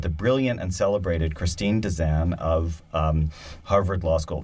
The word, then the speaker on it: Desan: brilliant and celebrated Christine Desan of Harvard Law School. Did I say that? Or I said it wrong, didn't I? Desan. Thank you. You were close enough.